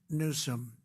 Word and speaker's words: Newsom: If Gavin Newsom let the water come down, see the way I pronounced his name properly for a change, if